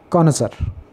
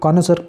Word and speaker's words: connoisseur: Next word है कॉनसर, इसको कॉनसर पढ़ते हैं, ये स्पेलिंग थोड़ी सी मुश्किल है, CONNOISSEUR, कॉनसर।